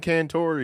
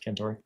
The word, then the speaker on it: Cantore: Cantor or Cantore, I can't say his name. However you say it. Yeah, I think it's said Cantore.